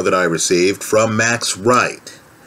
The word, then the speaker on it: Wright: i received from max wright that's right spelled with a w w r i g ht i don't know max